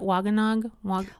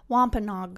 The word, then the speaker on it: Wampanoag: he's the one how do you say it wagonag wampanoag wampanoag he's the one wampanog who can speak